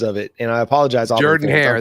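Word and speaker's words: Jordan-Hare: into Jordan Harris Stadium Jordan Harris Stadium Whi a bunch over all of my different pronunciations of it and I apologize Jord hair that's it I'm working on it okay Jordan hair Stadium you heard um that's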